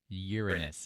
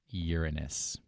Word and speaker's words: Uranus: Uranus is how it's pronounced. You can repeat it after me. Uranus, like the planet.